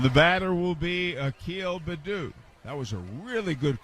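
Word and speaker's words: Baddoo: pronounce his name and they were calling him bad but they got the name right but he cooled off it's bedu and a breaking ball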